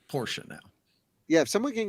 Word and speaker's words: Porsche: trained myself to say it properly so it's Porsche now yeah if someone can go back through